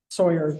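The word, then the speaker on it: Sohier: Yeah, it's S O H I E R. It sounds like Sawyer that works with wood, but it's it's probably French.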